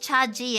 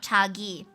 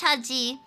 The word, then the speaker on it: Chaji: I found out it's pronounced Chaji and not Chagi, but I've been saying it like Chagi since god knows when. But anyway, it's pronounced Chaji.